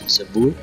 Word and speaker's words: Zabur: I know the Arabic one. It's Zabur.